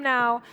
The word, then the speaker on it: Nau: is daryl now and that's spelt n-a-u but it's pronounced now because he's right here right now daryl welcome to the